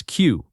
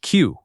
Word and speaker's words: queue: Number 45 is Q. This word is simply said like the letter Q.